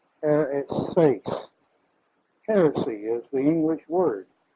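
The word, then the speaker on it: αἱρέσεις: Now, this is the Greek word H-A-I-R-E-S-E-I-S. And the accent on the E. Hereses.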